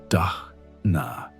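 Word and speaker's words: दान: One of their most successful experiments was what they called digital dana using the Sanskrit word dana pronounced dna which means generous giving instead of focusing on extracting value from their online presence.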